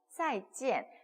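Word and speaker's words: 再见: 再见 사성이에요. 再见在 같은 경우는 즈 발음이 나니까 在 그리고 见 은 见 이렇게 읽어주시면 돼요.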